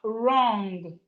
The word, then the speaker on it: wrong: We have wrong. Wrong. The W is silent.